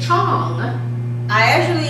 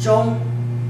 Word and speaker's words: Zhong: it Chong, but you're pronouncing it Chong. The right way to pronounce it is Zhong.